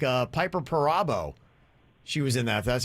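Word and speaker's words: Piper Perabo: the people that were in it like uh piper parabo she was in that that's how you pronounce her name and she looks uh great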